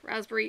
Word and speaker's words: raspberry: But yeah, raspberry is very much, you have to kind of go, raspberry. It's like, you're saying all the little syllables, like February, it's like February.